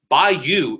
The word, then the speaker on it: bayou: didn't know this but by you is Louisiana Prince agent by yo is a text pronunciation I had no idea